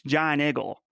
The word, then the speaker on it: Giant Eagle: giant eagle yeah yeah pittsburgh people can't even i mean they say it their way i was gonna say they don't say it right but they say it their way it's john eagle so i hate that